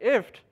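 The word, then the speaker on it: IFTTT: And sort of the canonical example is known as if this then that, or is pronounced as IFT.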